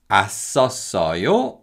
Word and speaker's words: 았었어요: Now, because of connective speech, the 쌍시옷 받침 in the first two syllables carry over to the following syllables. So they are pronounced 았었어요 and 었었어요.